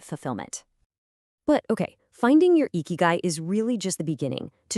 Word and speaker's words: Ikigai: First off, it's pronounced eeky guy.